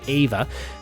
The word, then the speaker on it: EVE: in love with Ava it is spelled Eve EE like Eve but he pronounces it Ava number six in what